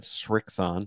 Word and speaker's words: Srixon: Notice I said Srixon. There's no T in there.